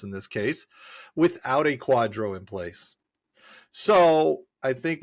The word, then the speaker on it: QDRO: Quadro I mean okay so Quadro which is spelled qdro stands for qualified Domestic